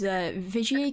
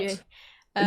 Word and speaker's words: Vigier: Well, I don't know what the word is, but it's very French. Yeah. Oh yeah, it's a French brand, isn't it? Oui. There you go. But apart from Vigier, like what model or